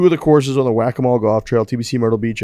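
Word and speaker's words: Waccamaw: Here's how you say it, and then I just forgot to write that down. The Whack-A-Mole Trail.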